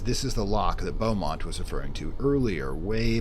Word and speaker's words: Beaumont: let's recap well Mont as I'm now correctly pronouncing his name Beaumont is an immortal such as us he's already